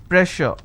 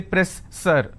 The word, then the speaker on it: pressure: a word which is pressure just because I have 2 s I can't say press sir I can't say press sir so here double s will become sh sound so I say pressure